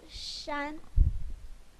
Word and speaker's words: 山: The pronunciation of this one is shān.